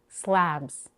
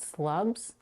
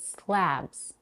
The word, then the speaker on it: slabs: words sit and ship slabs here we have the vowel a as in cat it's not slubs but slabs and we connect slabs